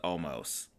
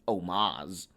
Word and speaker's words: almost: versus almost um or as aj styles says omaz omas yeah um he does say omas doesn't he uh i think he just heard it wrong and he just said it wrong and then he just